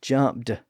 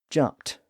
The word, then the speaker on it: jumped: sound at the end I know we spell it e d but it's not jump Jed it's jumped with a t sound just like skipped and